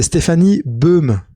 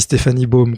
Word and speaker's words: Stéphanie Baum: Je prononce bien ou j'espère que je prononce bien ou Alors si tu veux le prononcer à l'allemande parce que ma compagne est allemande c'est Stéphanie Beum mais le trem c'est